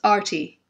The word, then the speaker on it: Arti: My name is pronounced Arti, like A-R-T-Y, Arti.